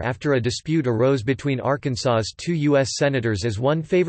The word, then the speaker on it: Arkansas: In 1881, the pronunciation of Arkansas with the final S being silent was made official by an act of the state legislature after a dispute arose between Arkansas's two U.S.